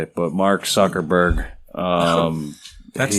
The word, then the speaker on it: Zuckerberg: __ ] but mark zuckerberg um that's not his name oh no it's not soccer burger no that's soccer burst name oh my bad yeah you said it right zuckerberg hawaii yeah he's a